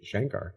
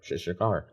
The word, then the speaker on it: Shankar: our next song featuring Johnny Maher and Anushka Shankar Shakar.